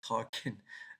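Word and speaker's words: Tolkien: the Lord of the Rings oh no he's talking in his sleep again so this is about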